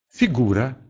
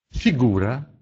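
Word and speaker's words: figura: Звук «ф» может быть мягким, если он стоит перед звуком «и». «Фигура», «фигура», «фигура» или «офяра», «офяра», «жертва».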